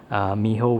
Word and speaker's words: Mijo: in a mijo exclusive packaging miho which is spelled mijo so i will bring